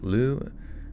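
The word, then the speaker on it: Lugh: say l Lu Lugia it's just l l o o but it's written l u GH okay Lou and then eth en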